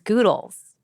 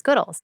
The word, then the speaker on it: Goodles: or goodles okay so some people here think that the brand should be pronounced as goodles like noodles but you obviously pronounce it as goodles yes and I think